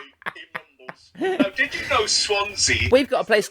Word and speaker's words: Swansea: Now, did you know Swansea? We've got a place called Crumbles here, so I know. I feel your pain. Well, Swansea is the only place name in Britain that rhymes with Fonzie.